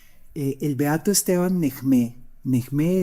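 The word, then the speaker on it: Nehmé: Necmé es el la manera como se pronuncia originalmente eh el apellido castellanizado Name.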